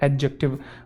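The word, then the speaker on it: adjective: है बच्चे वो है एडजेक्टिव अब यह मैं कई बार बता चुका हूं वैसे ए और जे के बीच में जो डी होता है वो साइलेंट होता है इसे एडजेक्टिव नहीं कहते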